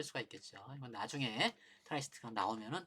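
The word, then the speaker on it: tri-state: 근데 이제 이런 로직 중에서 이 트라이 스테이트, 이걸 이제 트라이, 세 개다 그래가지고 트라이 스테이트라고 보통 발음을 하는데요. 쓰리 스테이트라고도 그러고.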